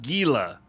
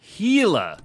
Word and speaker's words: Gila: pronounce it differently but in English it is Gila the G is silent yeah I ain't doing